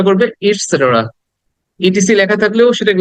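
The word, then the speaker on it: et cetera: উচ্চারণ হবে ইটস সেটেরা ইট সেটের ইট সেটেরা সেটের সেটের এটাকে দ্রুত বলতে হবে এখানে শর্ট সাউন্ড ইটসেটের ইটসেটের ওকে এটাকে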